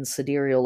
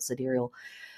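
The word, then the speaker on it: sidereal: Gemini in siderial astrology if you're like siderial or cidal side ceral I've I've heard the word pronounced a variety of ways I say it siderial what the hell is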